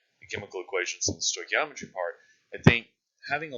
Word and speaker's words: stoichiometry: That's how you say it, stoichiometry.